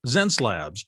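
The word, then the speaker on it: Xencelabs: from huntersville says has anyone used a zen zen slabs and it's spelled x-e-n-c-e-l-a-b-s pen tablet it's an interesting looking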